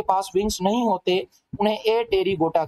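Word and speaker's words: Apterygota: wings नहीं होते उन्हें ए तेरी गोटा कहा जाता है इसमें पी क्या है बेटा साइलेंट है तो मैंने इसकी मिसाल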